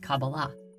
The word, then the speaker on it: Kabbalah: in the hebrew alphabet these four letters together are pronounced kabbalah however the most common